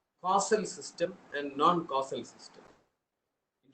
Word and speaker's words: causal: In digital signal processing, there is a concept called causal system and non-causal system. In fact, most students pronounce it wrongly as casual system because we are very used to casual living.